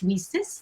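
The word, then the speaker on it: WiCyS: by our acronym lisa's w-i-c-y-s pronounced recess like we sisters because that's exactly what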